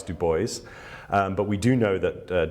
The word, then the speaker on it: Du Bois: But obviously I mentioned the French pronunciation and people might be wondering why it's Du Bois and not Du Bois. We don't have an answer as to why it's Du Bois, but we do know that Du Bois insisted